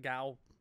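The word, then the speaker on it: gaol: probably a rat so it looks like it'd be pronounced differently but it's pronounced the same as jail it's just an archaic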